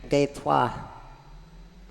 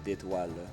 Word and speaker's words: d'étoile: Détois, I believe. Any Frenchmen in the chat? How bad was that pronunciation? Oh, you missed the last syllable, the le, d'étoile.